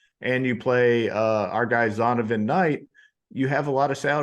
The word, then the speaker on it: Zonovan: It's not Zonathan, it's Zonovan. Yeah, Zonovan. Nice. You can call him Zonathan if you want to, but it's Zonovan.